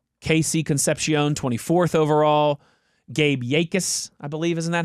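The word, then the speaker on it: Jacas: and Dane Brugler and they were pronouncing it like Yakus kind of. Yakus Yakus.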